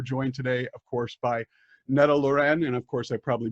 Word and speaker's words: Netta Laurenne: Well, in Finnish, it's Netta Laurenne. Netta Laurenne. That sounds more Italian. I'm screwing that up still. Yeah, but it's kind of okay to say Netta Laurenne.